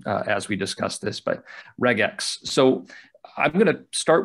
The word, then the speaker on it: regex: It's not regex, it's regex. Regex. Yep, okay. Because regular expression, so regex.